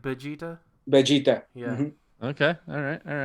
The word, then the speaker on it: Vegeta: It's like Vegeta.